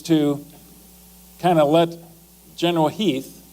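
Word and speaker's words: Heth: Lee's intent actually is to kind of let General Heath, it's spelled H8, but it's pronounced Heath, to do a little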